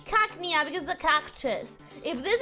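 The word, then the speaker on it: Cacnea: there's a cactus and it has to be pronounced like a cactus right like Hackney okay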